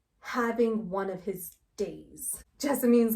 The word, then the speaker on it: Jessamine: This is Jessamine. Technically it's pronounced Jessamine, but that's dumb, so we're calling her Jessamine because that sounds prettier. She's a bitch.